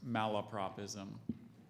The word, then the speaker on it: malapropism: more time malapropism Mal love propism or malopropism can you give me every pronunciation you have in that book I have just one there's malapropism this is a blundering